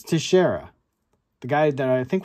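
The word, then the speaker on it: Teixeira: did the guys say t I can't even pronounce it tashera it's tashera the guy that I think was a breaker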